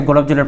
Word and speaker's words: গোলাপ জল: কি যে বলে ফেলতেছেন, বাট অ্যাকচুয়াল উচ্চারণটা কি হবে, মানে অ্যাকচুয়াল কারেকশনটা হবে হচ্ছে গোলাপ জল। ডান, ঠিক আছে, আমাকে একটা গোলাপ জল দেন, এটাই সঠিক। আপনাকে গোলাপ জলের পানি আর চাইতে হবে না, হ্যাঁ ওই সময়কে।